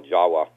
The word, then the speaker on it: Java: Java, which they call Jawa, and actually in Dravida it's called Jawa, and although it's Java, the V is pronounced as a W.